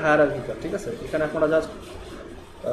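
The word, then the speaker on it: hierarchical: মানে ওটা হচ্ছে হায়ারার্কিক্যাল, ওটার উচ্চারণটা হচ্ছে হায়ারার্কিক্যাল, ঠিক আছে।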